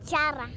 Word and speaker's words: charra: No, a charra. Charra. Charra. Charro. She's teaching me how to pronounce it. I can't do it right.